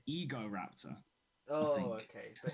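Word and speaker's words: Egoraptor: And then Is the person who runs the Igor Raptor channel even called Igor? no, it's he pronounces it Ego Raptor.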